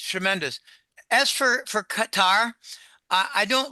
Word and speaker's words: Qatar: I I I don't Yeah, make it Qatar so it's well known and the the accent is on the second so you know what I'm talking about rather than a cookie cutter.